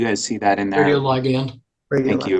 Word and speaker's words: radioligand: I don't know how to pronounce that word. John, can you guys see that in there? Radioligand. Thank you. Radioligand.